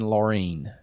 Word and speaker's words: Laureen: So I pronounced her name as Lauren, and it should have been Laureen.